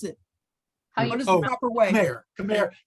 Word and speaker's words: Khmer: sorry what was the question how do you pronounce it proper way come here come here um yeah people in in uh worldwide pronounced